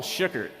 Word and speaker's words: Schuckert: we were talking about my name it's shookert like can you pronounce shugart kinda I can't even pronounce it